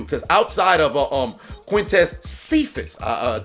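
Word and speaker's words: Cephus: outside of um quintess cephas uh i kept pronouncing it cyphus but quintess cephas and tj hawkinson they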